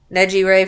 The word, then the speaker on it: Nejire: What did you say how to pronounce her name, Mike? Nejire. Neji Ray from My Hero, Ty Lee from Avatar, Kuwabaro's